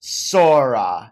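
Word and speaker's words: 空: hurricane shuriken is the japanese character for sky which is pronounced sora this might not mean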